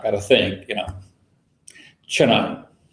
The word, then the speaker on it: Chennai: kind of thing yeah chenine we pronounce that Chennai that is ch e in na and I want you